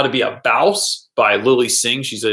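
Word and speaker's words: Bawse: right now I'm reading how to be a bouse by Lily Singh she's a YouTuber that I'm think is no it's pronounced bouse how do you know because I heard her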